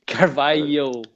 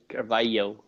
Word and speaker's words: Carvalho: It's like an LY sound for us Americans. So the LH kind of makes it like a LY kind of sound. It's Carvalho, Carvalho. Carvalho. Yeah, there you go. Just say it like that. Like you're saying yo at the end.